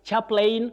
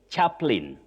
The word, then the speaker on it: chaplain: Chaplain which is an X. No, you don't say chaplain. You say chaplain. Chaplain. The A after L is silent. You don't pronounce it.